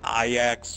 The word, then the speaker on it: Ajax: way you think like Ajax is pronounced IX you know or like